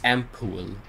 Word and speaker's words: ampoule: I suppose we can use an ampoule, eh? It's ampoule. We gotta remember how the British say it.